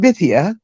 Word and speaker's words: Bithia: And my name is pronounced Bithia. All right, my apologies, Bithia. My apologies. It's okay. It's okay. Everyone does it. Only a few people get it, but it rhymes with Cynthia.